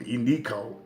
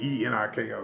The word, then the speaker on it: Eniko: She said, I can't believe Eniko allegedly said something on social media and that